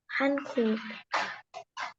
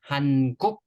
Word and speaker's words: 한국: 한국. The last syllable, K sounds at the end. So say with me one more time. 한국.